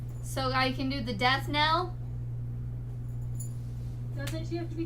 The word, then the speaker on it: death knell: It's like Death Kneel or Death Knell. Death Knell is how it's pronounced. Okay. I couldn't tell if that was 2 E's or 2 L's.